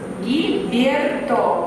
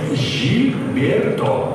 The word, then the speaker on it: Жильберто: Гильберто, правильно? Гильберто? Нет, Жильберто.